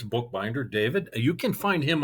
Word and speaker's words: Bookbinder: It is spelled just the way it sounds, Bookbinder.